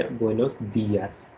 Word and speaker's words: buenos días: in the sense that when you put accent mark, you have to give stress on that particular letter. So it should be Buenos Dias.